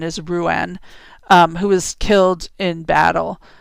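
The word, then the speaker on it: Ruadán: In Irish myth, Brigid's keening is most commonly linked to the death of her son, and the pronunciation is Ruan, who was killed in battle.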